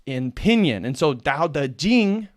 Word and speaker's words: Dao De Jing: that's how it's pronounced in pinion and so Dao the Jing right as if you look at the Wade Giles it's like um it's like uh Sal Tau touching no that's not how you pronounce it in Chinese it's Delta Ding and